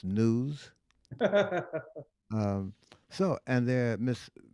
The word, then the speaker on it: gnus: that's a good one g-n-u-s spell pronounced news um so and there